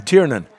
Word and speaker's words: Tiernan: So what's the correct pronunciation? Tiernan. Tiernan, that's what we've been saying, yes.